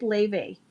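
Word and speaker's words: Laufey: So yeah, if you like Jones Katie um look up Ley. you'll like Ella and it's it's spelled L A U F E Y.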